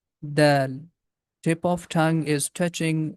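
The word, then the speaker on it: ذال: The name of this letter is Dhal. Very soft sound. Tip of tongue is touching with the edges of frontal teeth, and the small portion of the tip comes out from the mouth.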